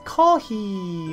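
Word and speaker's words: コーヒー: In Korean it's kopi. Kopi. Sounds like copy, right? But in Japanese it's kohi.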